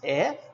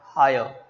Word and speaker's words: heir: Pronunciation is air, not higher.